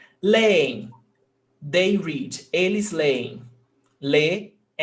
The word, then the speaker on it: leem: Hiato, we've got two syllables, creem, no accent. Leem, they read, eles leem, leem, hiato, but no accent mark.